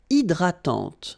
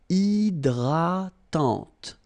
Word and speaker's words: hydratante: Une crème hydratante. So remember, H is not existing, and then this Y is pronounced like I. Hydratante. Okay, don't insist on the final E, and this is nasal.